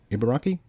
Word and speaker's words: Ibaraki: Ibaraki Prefecture. Ibaraki? Yeah, that's how you pronounce it.